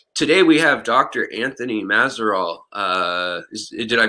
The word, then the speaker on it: Mazeroll: Anthony Mazeroll. Did I pronounce that the proper way? Unless you're really French, then no. But yeah, that's how we Americans pronounce it. Mazeroll. Mazeroll.